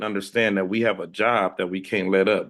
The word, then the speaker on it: Job: The book of Job is spelled Job. We know it as Job, but if you get into the biblical world, it's called Job.